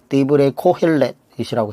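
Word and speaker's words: דברי קהלת: 디브레 코헬렛이라고 해서 히브리어 발음을 쓰는데, 이게 바로 전도서라는 거예요.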